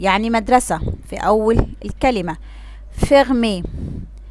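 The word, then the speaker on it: fermé: فيرمي، فيرمي يعني مقفل، جات في آخر الكلمة كده اتحول معايا النطق للإي، فيرمي.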